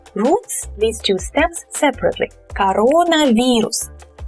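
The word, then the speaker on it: коронавирус: Actually, some Russian speakers, I've heard them say coronavirus. So they make just one emphasis here, coronavirus. But the presenters on the news still say it like two words, coronavirus. And I think it's easier to say. So if you ever say this word in Russian, say it like this, coronavirus.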